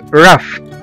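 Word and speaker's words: rough: الجي هنا جه بعد منها حرف الاتش وخلاها اتنطقت على انها حرف الاف او حرف الفه لاف لاف او يضحك. وزي كمان كلمة رف رف رف او خشن ر او يو جي اتش رف.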